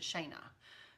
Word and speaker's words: Shana: All right, next is from Shana or Shanna. I had a little girl in our color guard when my girls were in marching band, and her name was spelled like this, and she pronounced it Shayna.